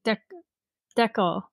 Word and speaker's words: decal: Because decal, like decal, but faster.